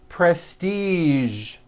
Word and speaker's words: prestige: Now, there are only a few words that have the voiced zh sound at the end. A few of these words are the color beige, the word massage, and the word prestige.